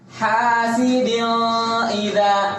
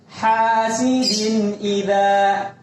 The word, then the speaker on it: hasidin idza: Jangan dibaca hasidin idza. Salah. Yang benar hasidin idza.